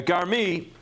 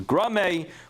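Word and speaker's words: גרמי: A garmi, which is typically how it's pronounced, although the Lavush and others actually explain it should be pronounced differently, which is grame, but maybe we'll explain that later. But garmi, as is typically pronounced, is when the Gemara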